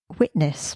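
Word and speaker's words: WTNSS: yeah written by Rob produced by witness but it's spelled WT NSS in capital letters witness is Bradley Spence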